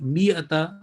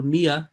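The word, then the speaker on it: مائة: the word is miyata remember this alif is written there but it has no part just meme and hamza will be uh pronounced and it will be me ata or mia in stopping alif when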